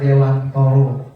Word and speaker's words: Dewantara: menjelaskan tentang Ki Hajar Dewantoro. Ya, bacaannya Dewantara, tapi kalau kata istriku bacanya harus Dewantoro walaupun tulisannya Dewantara, karena itu memang dari bahasa Jawa katanya.